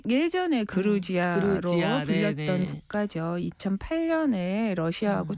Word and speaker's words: 조지아: 그루지아라고 하는 발음 자체가 러시아식 발음이라 그래요. 그거를 아예 이제 영어식 발음으로 해서 국제적으로는 조지아로 바꿔 불러달라 이렇게 여러 나라에 요청을 했고 우리는 네.